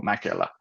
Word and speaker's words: Makela: thing as well as like my surname which is Mac elites with the dots so it's supposed to be go Makayla exactly as you pronounced it um but yeah